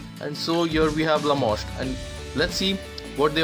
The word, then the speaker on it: Lamoste: Lamoste, which I feel rhymes with Lacoste, which is a well-known brand, and so here we have Lamoste, and let's see what they offer us.